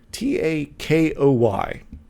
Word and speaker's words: Takoy: i never say his name out loud it's t-a-k-o-y to takoy there we go there we go